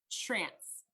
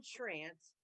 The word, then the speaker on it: Schrantz: How do you pronounce Schrantz. it? Okay. Schrantz. I'm not going to try, but It rhymes welcome. with ranch. Yes. Okay, there you go. Trance. Schrantz.